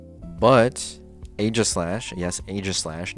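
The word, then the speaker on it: Aegislash: single sword more, but Age of Slash, yes, Aislash, not Eegis Slash, like some stupid people think it's pronounced.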